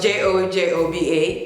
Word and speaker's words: jojoba: Obviously spelled J-O-J-O-B-A, but it's pronounced jojoba.